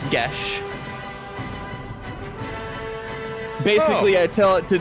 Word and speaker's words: geas: Derived from Gaelic, so it's Gesh.